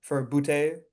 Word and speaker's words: Butte: Running backs, I dropped Woody Marks for Butte. That's how you say his name. I kind of overpaid on him, like Booty.